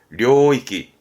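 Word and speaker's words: 領域: 발음은 료이끼, 료이끼.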